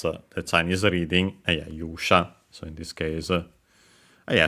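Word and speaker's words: 勇者: Accent on the first syllable, so yeah, keep it in mind, it's one of those.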